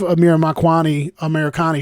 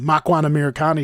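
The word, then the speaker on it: Makwan Amirkhani: beating Makwani, especially if Amir Makwani Americani shows up. I'm saying his name wrong. Makwan Americani shows up.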